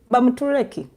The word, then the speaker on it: Bamutureki: Bamuturechi. Hey! Bamuturechi. Indeed, like her name. Bamuturechi. Bamutureki. Actually, she's a Mtoro, so I'll pronounce it the way we pronounce it.